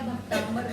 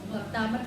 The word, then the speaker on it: भक्तामर: यदि आप भक्तांबर बोलेंगे तो वहां पर कोई वो नहीं है। ऊपर बिंदी नहीं लगी हुई है और ना ही ब शब्द है। म शब्द है और म शब्द से अलग अर्थ भाषित हो रहा है।